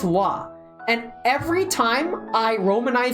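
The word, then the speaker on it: は: own PowerPoint very cool the wah particle pronounced wah it's written as ha but it's pronounced wah and every time I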